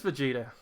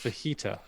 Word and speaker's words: Vegeta: it vegeta it is vegeta i don't know yeah he said it in three different languages spanish in japanese and in america it's pronounced fajita yeah once he said the